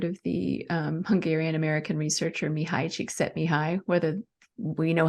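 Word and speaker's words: Mihaly Csikszentmihalyi: have probably heard of the Hungarian American researcher mihai cheek set me high whether we know how to pronounce his name or not but that's how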